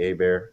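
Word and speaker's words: Hebert: me on Facebook at a bear h-e-b-e-r-t not h-e-r because people who spell my name last name wrong Herbert everybody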